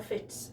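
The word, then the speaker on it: Fits: think i've ever had and these are the fitz socks and it's pronounced f-i-t-s and i get them from my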